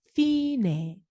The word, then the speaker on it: fine: fine, fine라고 읽습니다.